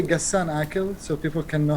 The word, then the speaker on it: Aqel: Can you just say Gassan Aqel so people can know how to pronounce it?